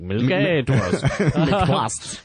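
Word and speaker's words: milquetoast: I'm pretty sure it's pronounced milk toast as well. I hope I'm not getting that wrong. It's supposed to be like milk toast.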